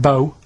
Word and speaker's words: BO: and it smells like bow. Body odor. Body odor. It's bo. It's bo. That's Well, yeah, but you've got to play. It's not pronounced bow and it's not spout bow.